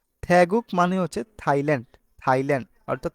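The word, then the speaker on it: 태국: হয় থেগুক থেগুক তো গিয়ক বাচ্চিম যদি নিচে বসে তাহলে ক হয় আর যদি গিয়ক মাঝখানে বসে তাহলে সেটা কি হয় সেটা সবসময় গ হবে হবে গ আর গিয়ক যদি প্রথমে বসে তাহলে খ হবে তাহলে এই রুলস অনুযায়ী আমাদের কি হয়েছে থ্যাগুক থ্যাগুক অর্থাৎ থাইল্যান্ড আমাদের এখানে হেচ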